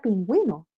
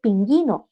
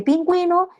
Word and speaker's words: pingüino: Pero luego le presento la palabra pingüino. Y entonces el niño va a leer pinguino. No, porque pingüino tiene una diéresis ahí arriba, que muchas veces el niño no las ve.